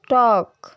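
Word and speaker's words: talk: learn बल बल bell L अक्षर एफ के और एम से पहले अपनी आवाज खो देता है जैसे कि काफ कफ हाफ हाफ वक वक टॉक टॉक कम कम कम Fock balm balm balm palm palm palm तो अब बारी आती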